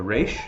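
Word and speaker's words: ר: and then we have the leash or the race is a little bit easier to say the ratio is really the the leche is probably the easiest one for me to remember because it's basically like a backwards are right and so and has the our sound race and has no so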